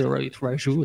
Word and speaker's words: Raju: C'est Rohit Raju, ça se prononce comme ça? Oui, ça se dit Raju, effectivement.